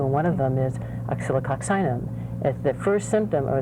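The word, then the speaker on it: Oscillococcinum: Oxylococcinum.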